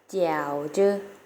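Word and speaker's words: 饺子: จีน แล้ว จะ เอา เสียง ว่า เกี่ยว ชื่อ เกี่ยว เจอ เกี่ยว ชื่อ นัก เรียน ออก เสียง สิ คะ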